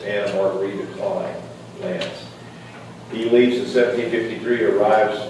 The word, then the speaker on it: Anna Margarita Klein Lance: I mispronounced the mother earlier. It's Anna Margarita Klein Lance.